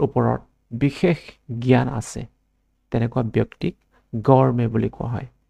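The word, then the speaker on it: gourmet: green colour আছে ইয়ার উপর stress ডিপ্লাই এটু উচ্চারণ করা হয় গ্রিন লেটার নিজ ও ইউ আর এমইটি গরমে গরমে প্রনাউন্স এ গরমে বলি প্রনাউন্স করা হয়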